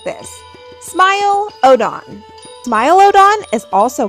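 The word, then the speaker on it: Smilodon: Smile Odon.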